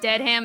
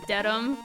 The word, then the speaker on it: Dedham: Framingham, and then you would think it's Deadham, it's Dedham.